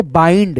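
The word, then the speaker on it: bind: कैसे पढ़ पढ़े थे बाइंड ठीक है बंड नहीं बाइंड पा ई न ड बाइंड जैसे यहां पे देखो एफ आई एन डी पा ई न और ड यानी आ ई के रूप में उच्चारण ठीक है फाइंड माइंड यहां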